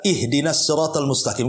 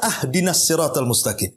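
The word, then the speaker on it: اهدنا: Contoh umpamanya, kita baca ihdinas siratal mustaqim, kan gitu. Kita baca ahdinas siratal mustaqim. Harusnya di kasrah, kita fathah pula tuh. Harusnya ihdinas siratal, kita katakan ahdinas siratal.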